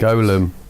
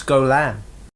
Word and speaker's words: Golem: Golem. No, it's Golam. Oh, it says Gollum on the programme. I know it's spelt Gollum, but it's Golam. That's how they fucking pronounced it in the film.